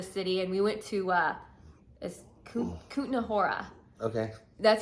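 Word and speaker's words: Kutná Hora: actually left the city and we went to Kutna Hora. Okay. That's how you pronounce it.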